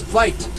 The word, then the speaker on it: wit: Their real name is Vite. W-I-T, pronounced Vite, V-I-T-E. It's an African word meaning wide.